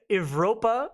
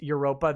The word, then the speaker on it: Evropa: skinhead social club identity evropa i'm sure it's pronounced europa that's a white nationalist